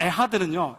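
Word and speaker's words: אחד: 여기서 맨 마지막 에하드는요 약간 이 프랑스 발음처럼 이렇게 끌어오르는 소리를 해야 됩니다. 잘못하면 가래가 나올 수 있습니다.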